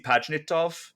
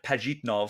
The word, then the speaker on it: Pajitnov: the the two main Talking Heads Are Alexi pitov and or P pajitnov sorry I always mispronounce his last name and Hank Rogers so